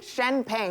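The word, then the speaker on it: Chen Peng: Yes, Cardi B wearing Shenpeng. Am I pronouncing that correctly? Shenpeng.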